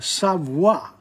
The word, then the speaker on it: savoir: But remember, savoir, O-I is wa.